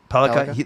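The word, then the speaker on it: Sandin-Pellikka: I was just going to say Sandin Pellikka was not taken out for dinner by the Canucks, reportedly.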